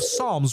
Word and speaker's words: Psalms: Well, it's not the book of Psalms. It's the book of Psalms with an S. Just because there's a S doesn't mean that that's how you say it.